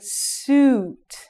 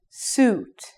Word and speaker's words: suit: So, this pronunciation is like suit. Suit. And this is soot. This word is very fast. Soot. Try. Soot. This word, on the other hand, has the long vowel sound.